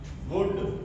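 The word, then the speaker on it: would: Example आ गया तो इसमें भी हमारा एल साइलेंट रहेगा। इसी तरह से शुड वुड कुड इन सब में एल के तुरंत बाद क्या आ रहा है?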